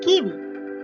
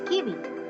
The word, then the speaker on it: Kiwi: Here comes kiwi, which is pronounced the same as in English. Their kiwi.